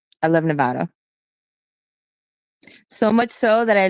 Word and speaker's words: Nevada: a travel nurse up and down Vegas Reno Nevada I love Nevada so much so that I learned that it's